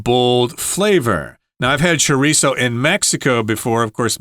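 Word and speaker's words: chorizo: well in Mexico and if you're speaking Spanish the Z there or the Zed will have kind of a th sound cho cho but most people and Mexicans as well just say chisso so with an S sound and if you say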